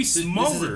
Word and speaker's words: Smulders: Kobe Smulders. This is a TV show. Yes. Kobe Smulders, Smulders, I think is how you say her name, Smulders, yeah.